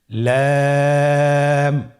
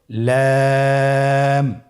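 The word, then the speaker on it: لام: লাম হরফটি উচ্চারণের ক্ষেত্রে অবশ্যই বারিক হবে এবং তিন আলিফ টেনে পড়তে হবে। আপনারা আমার সাথে বলুন। লাম।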